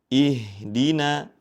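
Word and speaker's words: اهدنا: yaitu pada pengucapan kata ihdina. Ihdina. Pada huruf nun yang berharakat fathah tetap dibaca tipis. Ihdina. Jangan sampai terbawa ke huruf shad yang memang dibaca tebal ya.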